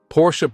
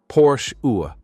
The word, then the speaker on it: Porsche: Porsche pronunciation and naming basics. Before diving into the cars, let's clear up the pronunciation first. It's Porsche UA, not Porsche.